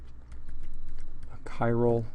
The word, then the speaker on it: chiral: that mean so I just say here requires chiral this is pronounced chiral CH bites chiral carbon and then